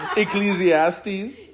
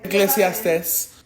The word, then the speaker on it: Ecclesiastes: know how to say this the book um exilastes Ecclesiastes. Yeah. Ecclesiastes 3:11.